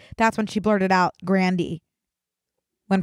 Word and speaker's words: Grande: your panties off Ariana Grande no it's not grande grand no Grandy you are you Ser